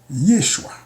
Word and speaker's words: Yeshua: Yeshua. Pas besoin paquet de bagaille. 2 syllabes.